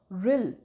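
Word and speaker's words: whirl: रिल, इसको W भी हम कह सकते हैं कि साइलेंट है, सो रिल कहते हैं इसको।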